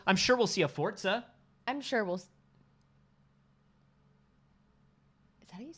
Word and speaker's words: Forza: I'm sure we'll see a Forza. I'm sure we'll... Is that how you say it? Yeah, it's Italian. Forza. It's like pizza?